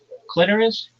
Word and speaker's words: clitoris: Clitoris, not clitoris. It doesn't rhyme with the sorus. It rhymes with almost like icorus.